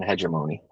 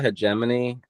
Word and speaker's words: hegemony: largest threat to American hegemony or on this one I I call a hegemony you can say either or hegemony works too um I do the silent G heon honi hey Mony